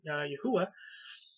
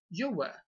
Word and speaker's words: Yahweh: Son, and Holy Spirit, Yahuwah. I don't pronounce it as Yahuwah. I say Yahweh.